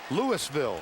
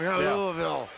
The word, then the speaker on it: Louisville: his hometown which is Louisville Ohio he said those folks in Kentucky have had it wrong all these years they say it wrong elavil and he played for